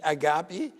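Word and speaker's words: ⲁⲅⲁⲡⲏ: But since the English don't have this r sound, so it's usually replaced by a g sound. So would be agapi and Golgotha, all right?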